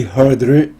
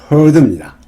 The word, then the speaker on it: heard: 간혹 이 heard를 heard라고 발음하는 분이 계시더라고요. 발음은 heard입니다.